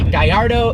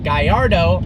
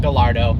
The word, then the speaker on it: Gallardo: It's the Gallardo Superleggera. Now, it is pronounced Gallardo because the name is a Spanish fighting bull, even though Lamborghini is an Italian company. It is not Gallardo, and it is Superleggera, not Superleggera.